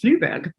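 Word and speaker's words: Flyvbjerg: It's spelled with this like agglomeration of consonants, and it turns out it's pronounced Fluberg, which I can pronounce because I'm German by background.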